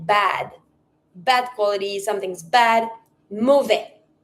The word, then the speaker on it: mauvais: Bad quality, something's bad, mauvais. Mauvaise. Finishing with an S when it's masculine, there's no E, don't pronounce the S.